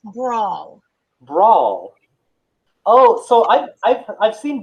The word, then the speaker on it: bransle: Bransle is pronounced brawl.